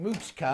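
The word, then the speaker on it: Moochka: were little your granddad used to call you mooshka that is right a little cow baby and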